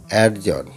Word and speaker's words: adjourn: ঠিক আছে, নেক্সট দেখো কি আছে অ্যাডজন, বা অ্যাডজন বলা হয়, ADJOURN অ্যাডজন, মানে স্থগিত করা। অ্যাডজন, ADJOURN অ্যাডজন মানে স্থগিত করা। ঠিক আছে, এখানে ডি এর উচ্চারণটা হচ্ছে অনুচ্চারিত হচ্ছে।